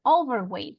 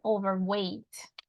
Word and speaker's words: overweight: at Dan overweight overweight so it wasn't overweight but overweight so it's on the last one good well done Dana